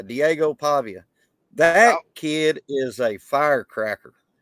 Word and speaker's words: Pavia: you know you got to take him serious Pavia he's gonna battle man he's got what it